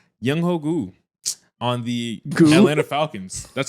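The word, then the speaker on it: Younghoe Koo: First winner, I'm gonna go ahead and say Yung Hogu on the Atlanta Falcons. That's how you pronounce his name.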